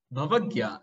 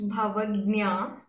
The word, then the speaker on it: Bhavagnya: If I'm right in the pronunciation? Not yet. After so many sessions, please tell your name and then begin your performance. Hello everyone. My name is Bhavagnya. Next time, better luck.